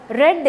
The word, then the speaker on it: read: then you should listen the major difference between these two is the pronunciation read is the present form but red is the past form of this verb pronunciation is different first one read the next is red then my leg is